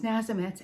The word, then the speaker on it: Nazemetz: thank you yes so my last name is nazimetz and it has two z's in it and when people see this they can't pronounce it they can't spell it they freak